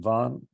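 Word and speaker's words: Vann: is that is that Darren Dion Von on yeah you pronounced his name right he spells it van yeah we hope that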